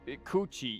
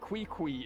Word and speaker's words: Ququ: also a nice touch yeah coochie yeah ququ that is pronunciation cooch that wait no that isn't her pronunciation wait no ququ is the pronunciation let's go the disaster